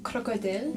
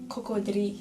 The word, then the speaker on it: cocodrie: On disait des crocodiles. Puis il nous a corrigé. Il a dit c'est pas crocodile, on dit pas crocodile, on dit cocodrie.